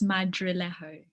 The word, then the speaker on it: Madrilejo: the last name is madrillejo and it's actually spanish okay but we can